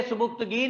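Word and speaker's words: Sabuktigin: his name is सुबुक्तगीन जी बोलेंगे सुबुक्तगीन लिखेंगे सुति गिन याद रखले स्पेलिंग के लिए इसके सुति गिन उसने कहा राजा साहब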